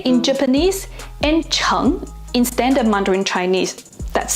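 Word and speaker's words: 诚: It's pronounced makoto and sei in Japanese and cheng in standard Mandarin Chinese.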